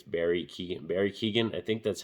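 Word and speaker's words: Barry Keoghan: Barry Keegan, I think that's how you say his name, the actor.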